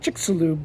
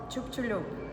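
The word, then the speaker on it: Chicxulub: want to find out is if we're saying chickaloo correctly uh this is Lou our guide hi and she is going to teach us how to pronounce it correctly ch ch Chu the meteorite of chup chulu chup chulu is that a Mayan word yes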